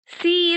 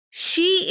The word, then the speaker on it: she: We should say she is very honest. So she. So the sound is sh.